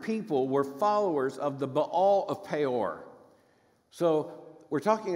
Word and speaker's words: Baal: I grew up where it was given a particularly strange Southern pronunciation Bale like if it's two A's you just hunker down on the a bail it's a dipthong so it's Ball but nonetheless this horrifying